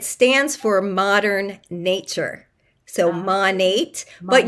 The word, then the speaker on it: Monat: So Monat, but you'll hear it pronounced Monet, Monat, all different around different countries, different areas of our country.